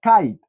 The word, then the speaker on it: kite: está en la parte superior kit pero se pronuncia kite luego vemos a este niño con su robot